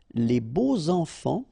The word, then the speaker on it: les beaux enfants: And here it's quite interesting because even if you've got this X, well, phonetically it will be like Z, so like if it would be an S, okay?